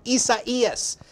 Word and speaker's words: Isaias: It is Tropical Storm Isaias. That is how you pronounce it.